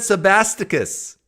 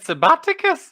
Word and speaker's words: Sabasticus: I said Sabasticus. No, you said Sabbaticus.